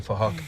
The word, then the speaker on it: Phuc: His name is Phuc, but spelled with a PH, so it sounds like Phuc.